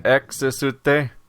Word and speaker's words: Exte: It's EXTE, but it's like there's 17 extra syllables because it involves an X and is spoken in Japanese. So it's like a 5-syllable word instead. But the main image you